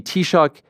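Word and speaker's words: Taoiseach: Historically, um and and and how do you pronounce the the prime minister's name title in uh in Gaelic? It's it's Tshock.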